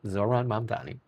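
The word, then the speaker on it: Zohran Mamdani: from our new mayor elect in New York, Zoran Matti. And I'm saying that more often so this way I can pronounce it correctly. Zoran mom Donni.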